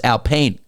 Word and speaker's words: Alpine: In French, Alpine is pronounced Alpine with a soft final e that is pronounced unlike in English.